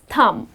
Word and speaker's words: thumb: them the correct pronunciation is thumb the letter b is silent and then the last